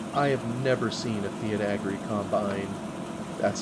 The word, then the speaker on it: Fiat Agri: I have never seen a Fiat Agri combine. That's how you pronounce it.